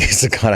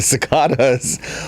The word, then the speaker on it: cicada: And they were Is that how they're pronounced? Cicadas. Cicadas. Cicadas. why. Cicadas. Cicada. You say cicada. I say John Cicada. Cicada.